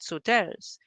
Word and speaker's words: Sauteurs: how Grenadians pronounce them because they're not at all pronounced the French way. So, there's all this history that we are unaware of that we should probably, like Leaper's Hill. So, I mean, sauteurs, right? We call it sauteurs.